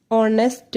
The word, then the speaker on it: honest: An hour, an honest man, an honorable man. Here H is silent. In all cases H is silent.